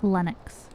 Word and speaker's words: Lenox: It's Linux with 1 O, but it's pronounced like Linux. It's not Linux, it's Linux.